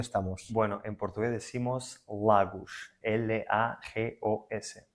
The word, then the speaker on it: Lagos: Bueno, en portugués decimos Lagos, L-A-G-O-S. Vale, bastante diferente a la pronunciación española.